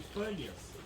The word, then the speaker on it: Banias: Então aqui eles tinham o P misturado com o B, e o lugar de Pânias acabou se chamando Bânias, por um erro de pronúncia.